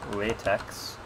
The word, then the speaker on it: LaTeX: LaTeX is spelled like latex, but with the consonants capitalized like so, and of course it's pronounced LaTeX.